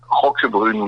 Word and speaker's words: Roquebrune: So it's Roy Colin Roquebrune, which is, if I spell it, ROQUEBRUNE.